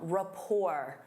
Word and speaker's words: rapport: Instead of saying they work well together, you can say they have a strong rapport. Rapport. Notice that T is silent.